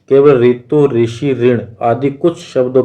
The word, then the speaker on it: ऋ: केवल ऋतु, ऋषि, ऋण आदि कुछ शब्दों के लेखन में इसका प्रयोग मिलता है। इसका उच्चारण र प्लस इ होता है।